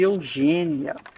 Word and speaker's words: Eugenia: Eugênia, a gente lê Eugênia, mas se escreve Eugenia.